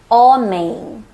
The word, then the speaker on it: homem: But when M is at the end of a syllable or a word, it changes. It doesn't sound like M anymore. It nasalizes the vowel before it. Bom, com, sim, também, homem. You don't really pronounce the M. You just nasalize the vowel.